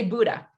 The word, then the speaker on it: Bodø: which people often say how do you say buddha and i guess the easiest way is just think of the the great buddha the the you just say buddha that but there's an o that looks like this